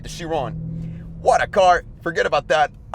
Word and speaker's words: Chiron: actually the one about Bugatti the shiron the Shian that was awfully pronounced by the way even though I tried shiron shiron all right the Chiron what a car forget about that I just